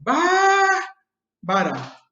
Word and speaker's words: Bárbara: E aí a primeira sílaba, né, a gente fala assim, Bárbara.